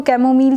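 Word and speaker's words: chamomile: कैमोमाइल टी, इसको कैमोमील टी भी pronounce किया जाता है।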